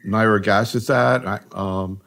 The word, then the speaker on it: nirogacestat: Maybe we ought to start talking about these new agents, particularly nirogacestat. Actually, I heard you pronounced it differently.